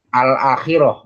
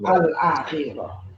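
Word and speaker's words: الآخرة: Justru kita akan salah kalau membaca ayat kalimat kata itu dengan kata akhirah, alnya nggak dibaca.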